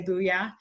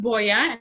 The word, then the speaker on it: Boya: people want to say booyah but it's pronounced Boyer and it's a Spanish word and the reason why